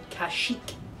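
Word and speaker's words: Kashyyyk: is a wiki's homeworld and how do you pronounce it cash yes correct this was a stupid question who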